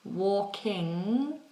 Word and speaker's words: walking: an interesting one because a lot of people will ignore the G and they'll do an N sound so for example walking you see see how the tip of my tongue is down and the back of my tongue is high walking walking some people will say walking walking and they do that tip of the tongue up um so okay so people